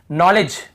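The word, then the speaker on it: knowledge: नाक नाक नाक यहां पर केस नीड ये नॉलेज यहां पर भी देखिए नॉलेज यहां पर भी दी साइलेंट है नॉलेज डीबी साइलेंट है यहां पे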